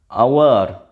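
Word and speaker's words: hour: আওয়ার উচ্চারণটা হাওয়ার নয়, হাওয়ার হলে এ হতো।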